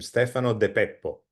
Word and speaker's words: Stefano de Peppo: special guest with me, Stefano de Peppo. Did I say it right? Almost. No, say it, Stefano, correct me. I'm Stefano de Peppo.